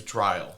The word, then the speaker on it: Dryle: First of all, his name's Dryle. Yeah. He just sounds like a dickbag. It rhymes with vile on purpose.